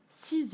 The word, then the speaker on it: six: la journée je dors six heures par nuit je dors on prononce pas le s six heures par nuit